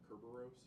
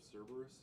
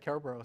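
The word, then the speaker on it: Cerberus: They keep calling it Ceraros instead of Cberus. Oh, I would have said Ceros. So, so Cberus is spelled after the Greek spelling of Cberus, which starts with a K.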